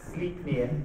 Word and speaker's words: Sleipnir: it's pronounced Sleipnir.